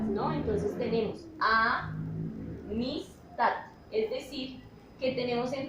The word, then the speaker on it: amistad: ejemplo en la palabra amistad. El tono más fuerte de la voz, cuando pronunciamos esta palabra, amistad, lo hacemos en la última sílaba, ta.